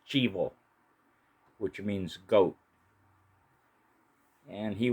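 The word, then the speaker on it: chivo: It's actually pronounced chbo, which means goat.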